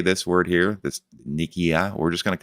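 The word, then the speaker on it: Nikkei: did really well yesterday we figured out how to pronounce the japan uh nikki i yield index we're just going to call it the nikki index or we'll refer to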